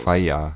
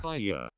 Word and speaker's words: fire: Fire is 2 syllables. Fire. Fire.